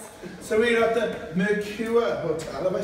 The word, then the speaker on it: Mercure: So we're at the Mercure Hotel, have I said it right? You have said it right. The Mercure Hotel, because they always struggle with it.